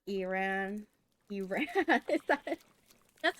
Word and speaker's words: Iran: similarly with an N instead of okay it's pronounced Iran Iran Iran country of Iran Iran Iran Iran got it